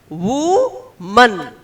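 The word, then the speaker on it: woman: in Telugu next to it what is the pronunciation We Men the singular form is Wu man wo man and the plural is we men do you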